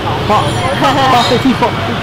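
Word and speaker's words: phở: ¿Cómo se pronuncia la sopa? Pho.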